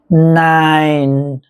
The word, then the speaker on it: nine: คำ ว่า ที่ แปล ว่า 9 นะ ครับ Nine nine nine สังเกต นะ ครับ เรา จะ ออก